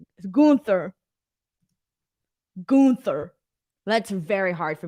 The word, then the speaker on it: Gunther: were calling him walter branson ronan says it's pronounced gunther gunther gunther that's very hard for me to say